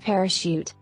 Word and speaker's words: parachute: consistently with other words English contains French words that are spelled with the CH but pronounced SH like chef and parachute there is no consistency